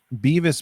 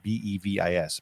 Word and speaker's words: BEVIS: Beavis means blockchain-enabled verification and information service, right? BEVIS. Actually, it's pronounced Bevis.